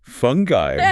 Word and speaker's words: fungi: And then there's fungi. Fungi, with that specific pronunciation.